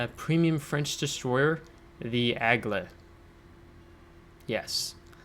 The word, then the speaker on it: Aigle: premium french destroyer the agla yes i really work to remember i'm pronouncing uh the ship after a viewer commented uh a link uh the egla yes the egla uh so i'll do